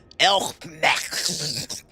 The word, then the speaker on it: Il Mheg: Il Mheg. There, I pronounced it right.